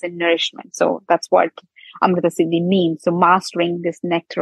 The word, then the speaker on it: Amrtasiddhi: And usually it's a hard word for people to pronounce. Amrtasiddhi, it's not an easy way.